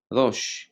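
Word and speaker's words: ראש: Jadi kalau bacanya udah langsung rosh gitu. Jadi modelnya itu dia kayak melewati. Modelnya gini, kalau kita tulisan ininya kan, jadi bunyinya adalah misalnya gini. Ini ada senyapnya, lalu kemudian S. Jadi bacanya adalah rosh gitu.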